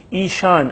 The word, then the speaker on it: ایشان: لفظ بھی ہے یہاں آپ دیکھ رہے ہیں، ایشان، الف یہ شین الف شانون، ایشان۔ یہ زیادہ